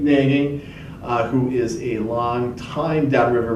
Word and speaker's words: Nagy: How do you pronounce his last name? Nagy, who is a long-time Downriver resident.